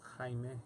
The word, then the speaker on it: Jaime: With an A and an I? It's actually pronounced Jaime. Jaime? Jaime. Jaime. Jaime. Yeah. But Jamie's fine.